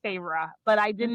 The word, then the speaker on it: Feyre: It took me forever because I thought it was now I see I know it's Feyre, but I did Mhm.